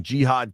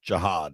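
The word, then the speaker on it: Jihaad: Norris has the Commanders taking Jihad Campbell, or maybe I've read that I think they want it pronounced Jihad instead of Jihad, which has a different connotation, certainly.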